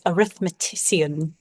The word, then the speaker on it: arithmetician: and and if you fully pronounce it the way that it scans arithmetician basically like this really